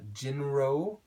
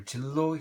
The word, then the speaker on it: Jinro: So those two brands, I'll just mention their names, Jinro, or Jillo here in Korea, that's the way that's pronounced.